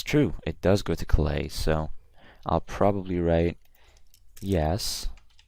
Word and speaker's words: Calais: And by the way, guys, this is pronounced Calais, not Calais. It's a city in northern France.